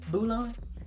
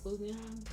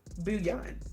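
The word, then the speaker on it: bouillon: Um, and then I have these vegan uh bulon what how do you say bullon? Bouan. Bullion. Okay. Bouan. Vegan bouan cubes.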